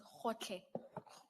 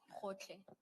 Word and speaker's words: Gotlhe: It's Khotle. Khotle. Thank you, thank you. Maybe Ms. Hassim, it may have to be spelled for the transcript. Thank you. And that's spelled Gotlhe. Hotle.